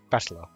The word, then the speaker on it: Battler: a characters for fight and person and it's pronounced battler put it all together you've got russian mia